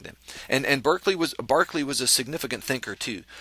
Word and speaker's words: Berkeley: r ke l y I believe it's properly pronounced um Barkley George Barkley so let's say it that way George Barkley